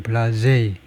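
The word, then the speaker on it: blasé: 불어로는 블라세고 영어로는 블라제이. 블라제이다 이거죠. 발음이 블라제이.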